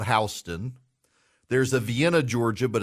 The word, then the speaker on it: Houston: Louisiana there there's a Houston County but it's called hon there's a Vienna Georgia